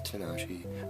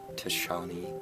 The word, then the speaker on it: Tinashe: Second thing, the guy who had uploaded uploaded the Tinashe song, and yes, it's Tinashe. I know, I mispronounced it in the first part because I'm dumb, and not Tishani or whatever.